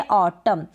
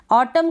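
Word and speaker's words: autumn: ऐसी स्पेलिंग्स में एम के बाद अगर यू एन आता है तब हम इस एन का उच्चारण प्रोनाउंसिएशन नहीं करते हैं, यानी कि न साउंड नहीं आता है।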